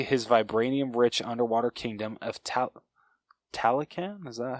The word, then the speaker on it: Talokan: Shows Shuri his vibranium-rich underwater kingdom of Talokan? Is that how you pronounce it? Talokan, thank you.